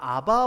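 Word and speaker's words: אבא: 예전에는 아바 아버지라고 번역했는데 이 아바나 우리의 아빠나 똑같은 개념입니다. 친밀하게 아버지를 부를 때 아바라고 불러요. 발음이 거의 비슷해요.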